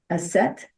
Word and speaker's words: Aset: So That's why we have Isis, but I've been told it's actually pronounced Aset, A-S-E-T.